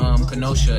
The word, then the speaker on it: Kenosha: Specifically, it's in Kenosha, if I'm saying it right. It's Kenosha.